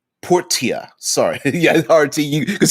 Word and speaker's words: Portia: man mentions the video game my time at porsche portia sorry yeah rit you because he knew i was going to pronounce it uh you know me too well